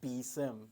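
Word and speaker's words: BSIMM: and uh for example the bsum which is uh pronounced bsim it's a building security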